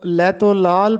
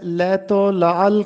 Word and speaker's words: لیت و لعل: لیت و لعل کرنا۔ بہت سے طلبہ اس لفظ کو لیت و لال پڑھتے ہیں جبکہ درست تلفظ ہے لیت و لعل کرنا۔ لیت و لعل کرنا